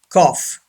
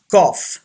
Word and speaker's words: cough: number nine cough yes gh gives the sound of f cough yes cough say this word cough